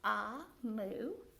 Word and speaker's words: Omu: says a note to the reader amu is pronounced aa moo and it's the igbo term for queen so